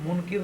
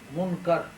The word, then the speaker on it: منکر: اس کا تلفظ یاد رکھیں, اس فرشتے کو منکر نہیں کہنا, منکر. عام واعظین اور اردو کے ذریعے سے دین سمجھنے والے منکر نکیر کہتے ہیں. منکر فرشتہ کوئی منکر نہیں ہے.